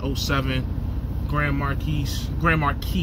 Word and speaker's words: Marquis: seven grand marquis gray marquee you don't pronounce the s um and i'm gonna